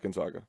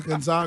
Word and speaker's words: Gonzaga: Gonzaga it's Gonzaga Gonzaga Gonzaga like zigzag we are ending this